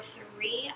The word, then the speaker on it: Souris: is a little color cerise or Surrey I don't think you pronounce the last I originally thought it